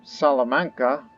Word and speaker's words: Salamanca: our control now but to be exact um salamanca which is how it's pronounced correctly which i'm trying to learn a